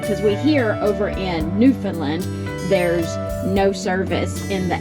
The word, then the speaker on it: Newfoundland: how to set newand instead of New Foundland I kept saying New Foundland and she's like it's Newland and I'm about got